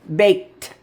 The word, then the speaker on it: baked: Put on the e d. Baked. Yep, there's a T. I told you in another video that often ed says T and that fools you uh people that are trying to learn English as a second language, they try to put a D.